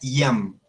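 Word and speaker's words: iam: Ham, que quiere decir ya, se pronuncia Yam, ¿sí?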